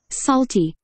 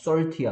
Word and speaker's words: salty: 오케이, 발음이 약간 약한 것 같아. 오케이, 자, 한번 들어보자. Salty. Salty. 그렇죠. salty야, salty. 뭐라고요? salty. short이 아니고 so 해봐, so. salty. 그렇지. salty. salty예요, salty.